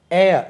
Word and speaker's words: heir: வாரிசு, HEIR, ஏர், உச்சரிப்பு எப்படி காற்று போல உச்சரிக்கணும், வாரிசு. ஏரஸ், HEIRESS, ஆண் வாரிசு இருந்தால் ஏர், ஏரஸ், ஹெச் உச்சரிக்க விடாது, சைலண்ட் ஆகும், ஏர், ஏரஸ்.